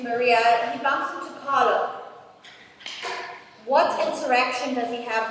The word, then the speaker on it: Carlo: Now, it's very important to note that his name is Carlo and not Carlos.